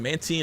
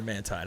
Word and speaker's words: Mantine: Do y'all pronounce it Mantine or Mantine? I think it's Mantine because, like, marine, you know? Because water.